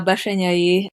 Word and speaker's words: Bessenyei: name is Dr bashay and it's weird to pronounce it it's Hungarian so don't worry about it